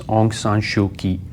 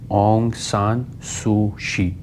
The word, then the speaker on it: Aung San Suu Kyi: Her name is Aung San Suu Kyi or Aung San Suu Kyi. Uh it's pronounced in different ways. Some say Kyi or some say like the Myanmar currency kyat or chat, so it's the same.